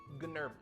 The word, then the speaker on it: Gnerblin: With a silent G at the beginning. So his full name, Gnerblin. Gnerblin.